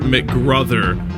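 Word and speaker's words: McGruther: the other end is Jennifer mcgr rhymes with brother just got that out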